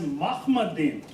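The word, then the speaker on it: מחמדים: Now Hebrew word for altogether lovely is pronounced as Mahmadim. Mahmad. The hard he, Mahmadim. Some people can't pronounce this one, so Mahmadim. So in any way, it's Ma. It's not Mu like Muhammad.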